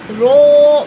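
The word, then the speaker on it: ر: And the common mistake we have to say that I have to give you 2 common mistakes. Number 1 is do not roll the tongue too much or too many times. Okay, number 2, do not stop the sound completely.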